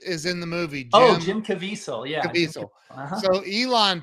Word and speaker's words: Caviezel: Jim Caviezel.